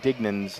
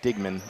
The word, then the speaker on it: Dignan: jerseys, I realize that I've been pronouncing Bridget Dignan's name Digman, so I apologize. It's Bridget Dignan.